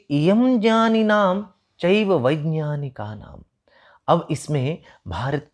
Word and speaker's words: वैज्ञानिक: इयं ज्ञानी नाम, यह ज्ञानी लोगों की, और वैज्ञानिका नाम च, आप इसे ये वैज्ञानिक कहते हैं, वास्तव में इसका शुद्ध उच्चारण जो है वह ज्ञ की तरह है।